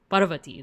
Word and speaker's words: Parvati: So he is the son of two deities, Shiva and Parvati. Parvati, there we go.